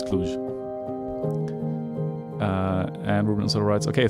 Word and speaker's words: Cluj: do that so um everyone says also the u is plain you not like moon clutch i hope it's cluj uh and rubenstein writes